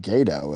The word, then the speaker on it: Gadot: how is that and how do you pronounce it t silent even if the t is silent what if the G assignment like in the name Arie okay as an Airy Biden why it still wouldn't be ghetto it would be gato at best okay though sounds like